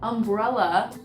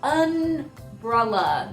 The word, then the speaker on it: umbrella: example number one is umbrella is how it's pronounced but I've noticed a lot of people say unbrella there's no N it's unfit umbrella it's